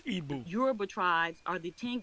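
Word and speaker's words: Igbo: the igu tribe is our people the it's pronounced Ebu euru tribes are the 10 kingdoms we are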